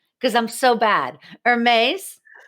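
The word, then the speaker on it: Hermès: to say it wrong because I'm so bad, Hermes. Hermes, yeah.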